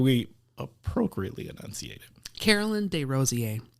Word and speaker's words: Desrosiers: Carolyn Desrosiers. It's a French pronunciation.